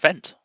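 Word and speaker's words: Fendt: Do you put a little bit of twang on that Fent, or do you just how do you say it? It's just Fent.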